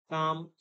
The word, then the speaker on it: calm: L is silent in palm, calm, half and all.